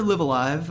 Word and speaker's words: Live A Live: I prefer Live Alive. I'm pretty sure that's what they called it in the Direct when Okay. like the American voiceover pronounced it, and so I was like, okay, we're gonna go with that.